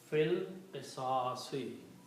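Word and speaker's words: في القصاص: You do not pronounce this alif. Fil qisasi.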